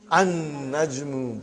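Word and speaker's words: النجم: So how will you pronounce, brother? An-najmu ba'idun. You did not pronounce lam.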